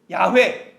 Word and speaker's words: 야훼: 그리고 결론을 야훼 또는 야훼라고 내리죠. 그러나 누구도 신성 사문자의 발음이 100% 야훼다라고 주장하지는 못합니다.